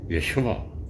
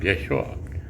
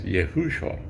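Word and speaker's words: ישוע: to be the name Yeshua right you have heard of that name Yeshua you can also pronounce it as Yahushua so that's the Hebrew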